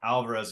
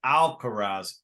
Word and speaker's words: Alcaraz: sorry if I've been calling them Alvarez it's alcaraz alcohol yeah that's how you from that's how you pronounce it so alcaraz okay because I I